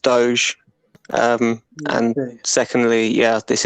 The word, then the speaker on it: doge: oh no no no is is firstly it's pronounced doge um and secondly yeah this isn't a crypto